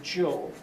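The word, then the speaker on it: Zhou: the next Dynasty called the Joel and I'll see again in this spelling system zh is the sound of J as the Joe progresses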